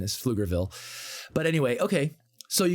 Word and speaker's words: Pflugerville: the Pflugerville it's it's the P is silent for some reason is Pflugerville but anyway okay so